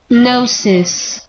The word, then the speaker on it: Gnosis: Gnosis. Haha, see? Gnosis. Gnosis. The reason I know is because there was this fucking video game. Yeah, the G is silent, but yeah, there was